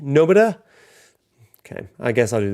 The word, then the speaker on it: Nomura: So Nomura, the R is pronounced with a D. Nomura.